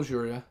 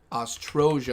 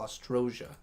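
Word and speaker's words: Oztroja: Castle Ojuria. Ostrosia, I should say. I keep saying it wrong. Castle Ostrosia.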